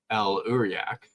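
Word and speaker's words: El'Uriaq: El Uriak, is that how you say it?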